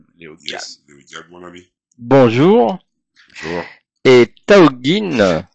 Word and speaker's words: Thaokine: Et Taogin Taokin Taokin, c'est comme ça qu'on prononce.